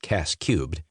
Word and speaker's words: CAS3: In combined arms staff service school called CAS3 but pronounced CAS cubed.